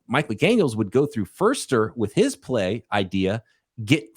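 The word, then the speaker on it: Foerster: because Christopher the uh and I always call him Chris Forster apparently you pronounce it first or the 49ers offensive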